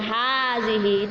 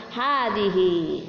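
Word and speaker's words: هذه: Kalau di bawah ini menunjukkan perempuan, setelah haza ditambah ha, itu bunyinya hazihi, itulah yang membedakan. Kalau yang di atas man haza hanya berakhiran alif, maka bacanya haza, kemudian yang perempuan hadihi.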